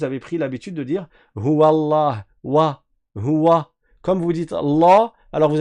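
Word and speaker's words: الله: Et après quand tu arrives au lem, c'est là où tu rends la lettre en fatigue. Allah vous voyez Allah sans exagérer mais à pratiquer à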